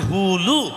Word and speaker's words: হুলু: ঠিক তদ্রূপ ওই উলু হবে না, উচ্চারণটা হবে হুলু।